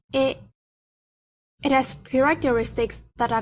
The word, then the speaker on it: へ: Particle although it writes he, when pronouncing it, we have to say e.